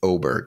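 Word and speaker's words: Åberg: L aberg or I he just changed the way that he pronounces his name I think it's oberg now uh but it seems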